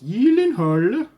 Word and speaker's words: Gyllenhaal: my little intro the reason i said it's pronounced yield annoyed is because of the interview he did with